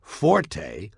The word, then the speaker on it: forte: that it's pronounced fort the Italian word Forte fo RTE used in music notation is pronounced Forte and it instructs the